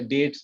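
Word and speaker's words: debts: ব্যাড ডেটটা বুঝো, এটা কিন্তু বিটিএস, বি এর উচ্চারণটা হবে না, এটা ডেটস হবে, ব্যাড ডেটস, ঠিক আছে, এটা মনে রাখবা।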